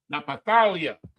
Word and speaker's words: Naphtali: And in the ancient, Na, Pa, Napatal, Ya. Napatalia. The Na, the Pa, the Tha, the La, and the Ya. Napatalia, my wrestling.